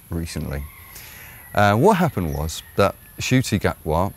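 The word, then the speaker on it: Ncuti Gatwa: What happened was that Shuti Gatwa, whose name is spelt Nakuti Gatwa, but I'm going to be referring to him as Fruity Gatwa.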